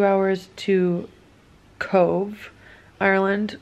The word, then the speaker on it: Cobh: We drove like 2 hours to Cove, Ireland, which we thought it was Cobh because it's spelled C-O-B-H, but the B-H here in Ireland pronounces as a V, which is a fun fact.